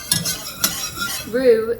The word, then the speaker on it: roux: all it is Rue is spelled r-o-u-x it's a French word for all those different